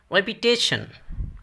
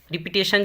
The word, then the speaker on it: repetition: Next है रेपिटेशन, रेपिटेशन यानी तकरार, यादा, दोहराव। रिपीटेशन जिसको बोलते हैं, लेकिन है रेपिटेशन, रेपिटेशन।